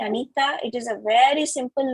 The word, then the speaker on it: Anitha: just one more thing my parents didn't name me they named me anita it is a very